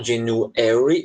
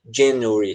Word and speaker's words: January: Dependendo, assim, você pode colocar sílaba tônica no A, January, ou você pode colocar sílaba tônica antes do A, na sílaba anterior, e fica January, tá certo?